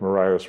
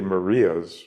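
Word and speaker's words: Marias: trying to do with Mariah's River Breakdown. Now, you say it right, it's really Maria's River Breakdown, because Lewis and Clark named this river after, I think, Lewis's cousin, Maria.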